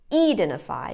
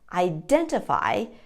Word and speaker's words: identify: might say something like identify or identify but in fact the syllable stress is on the second syllable identify and sometimes the t